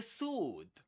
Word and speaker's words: sword: The sword. Again, no W. Not sword. Sword. It's sword. Sword only sword.